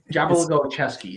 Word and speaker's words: Jabalogolcheski: Jabalogolcheski is how it's pronounced.